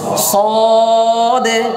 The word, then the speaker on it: صاد: এভাবে বলি ওই দিন শেষ হ্যাঁ এখন আমরা উচ্চারণ হবে সদে সদে আবার বলেন صاد صاد صاد صاد صاد